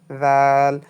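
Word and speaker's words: ذال: জিহ্বা সামনে দুই দাঁতের মাঝখানে রেখে হালকা করে উচ্চারণ করুন। দাল। জিহ্বায় দাঁত হালকা করে স্পর্শ হবে। জাল তাহলে দেখেন আপনি এইখানে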